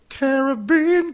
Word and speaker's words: Caribbean: Oh, she's our Caribbean queen. Sorry. Caribbean queen. Yeah, it matters. That's how it's pronounced properly.